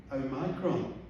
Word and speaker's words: Omicron: how to pronounce it variant is pronounced o micron you don't say perhaps